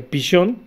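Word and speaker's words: פישון: Este término Pisón, vamos a ver que en el hebreo que sería Pishón, y Pishón, que se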